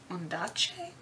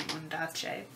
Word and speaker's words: Ondaatje: By Michael Ondaatje. I think that's how you pronounce his name, Ondaatje.